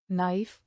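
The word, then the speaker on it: knife: उदाहरण honest honest a our what what when one साइलेट के मौन के जब के बाद एन आए तो के साइलेट रहता है। उदाहरण नाइफ नाइफ नोक नॉक नो नो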